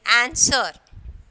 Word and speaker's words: answer: Rec, W is silent, and then answer. Answer. So here we are not pronouncing the W, okay?